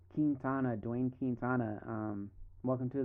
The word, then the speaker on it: Quintana: Quintana Quintana, Dwayne Quintana.